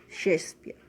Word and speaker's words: Shakespeare: destaca es william shakespeare como verás ahí se escribe que espiar pero se pronuncia shakespeare muy bien william shakespeare